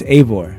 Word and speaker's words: Eivor: It's Eivor. Eivor? Yeah, that's how you pronounce it.